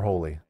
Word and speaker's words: Holly: you your statement officially Holly or holy holy holy wow okay but it's but it's spelled Holly on the card I I I I